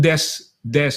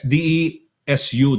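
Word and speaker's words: です: Yung des D-E-S-U, desu. Pero like I said, they don't pronounce the yud. Omegi kakarete oresi des. Desu. If we were to read it, desu, oreshi desu. No, they say it oreshi des.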